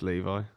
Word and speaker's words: Levi: they pronounce his name I asked him he said it's Levi Levi jeans like the jeans Levy coell your charers